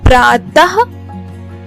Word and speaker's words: प्रातः: को विसर्ग कहते हैं इसका उच्चारण ह की तरह होता है और इसका चिन्ह आप